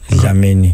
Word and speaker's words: Dlamini: No, it's pronouncing like this:, Dlamini.